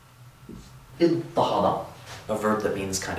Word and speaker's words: اضطهد: After that dad, we're going to change the ta of the pattern to a ta to get idtahada, a verb that means kind of oppress.